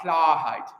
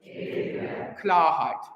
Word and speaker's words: Klarheit: Yeah, that word, if you ever hear a German singer pronounce it, it's like the brightest vowel in the history of the world. We almost don't have it in American English.